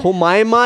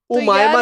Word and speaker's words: हुमायमा: हुमायमा यार. उमायमा नहीं हुमायमा. ऐसे आयमा बेग और उमायमा. एच साइलेंट होता है पागल.